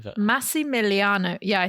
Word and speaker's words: Massimiliano: Not going to remember that name, but Massimiliano.